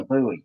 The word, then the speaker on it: buoy: we dropped it because a boy or a buoy. Yes, a buoy. We'll see. We pronounce it boy here. Yeah. But the Americans is a buoy.